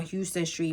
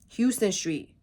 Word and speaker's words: Houston Street: huge billboard yesterday on Houston Street Mimi said pronouncing the streets names as one would the city where Houston Street H Lena corrected hon yeah I saw